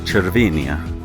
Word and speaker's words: Cervinia: at chinia in Italy they pronounce it with the CH so chinia and we're staying at